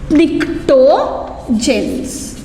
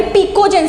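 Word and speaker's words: pnictogens: PNICTO, निक्टोजेंस। ठीक है, निक्टोजेंस या फिर पिकोजेंस बोल सकते हैं, N साइलेंट होगा वहाँ पे, पिकोजेंस बोल सकते हैं या फिर निक्टोजेंस बोल सकते हैं।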